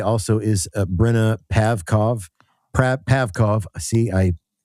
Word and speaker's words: Pavkov: Pav- Pavkov. See, I That's okay. Yeah, Breanna Pavkov. I'm so sorry. Pavkov Pavkov.